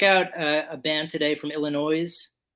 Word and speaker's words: Illinois: from Chicago, Illinois. Yes. My Before we, my home state. Woohoo. yeah, go Illinois, Yeah. or as Jay from Jay and Silent Bob pronounce it, Illinois.